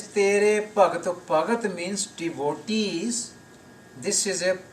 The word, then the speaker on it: Bhagat: Bhagat is a plural word when there is ta sound at the end without any vowel sound. Ta, Bhagat. This is a plural word from Bhagatu. Bhagatu with a U sound at the end means one devotee, and when this U sound is removed, the word becomes Bhagat, and the word Bhagat means many devotees.